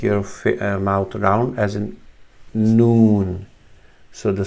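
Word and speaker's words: نون: not ne, not nu, but the name is noon, as in N-O-O-N, noon, as a noon time in the day.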